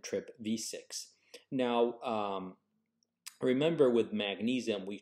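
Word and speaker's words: TRPV6: the vanaloid subfamily trpv these two channels are pronounced trip v5 and trip v6 now remember with magnesium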